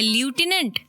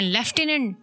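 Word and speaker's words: lieutenant: लिखा है ल्यूटिनेंट skiing, पढ़ रहे हैं लेफ्टिनेंट शीइंग।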